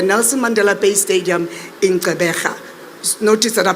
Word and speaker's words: Gqeberha: This historic match will take place on Saturday the 12th at the Nelson Mandela Bay Stadium in Gqeberha. Notice that I pronounced that properly, eh?